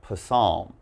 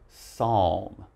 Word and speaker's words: psalm: the next one here it's not possum all right now this we just say psalm now psalm is it's